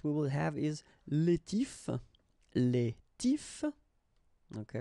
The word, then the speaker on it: tifs: The first option that we will have is les tifs. Les tifs. Okay, remember you don't pronounce the final S, les tifs.